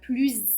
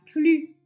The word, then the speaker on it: plus: Je suis la plus âgée. Tu es la plus habile. Elle est la plus heureuse. Donc vous voyez que dans ces trois phrases, on prononce z.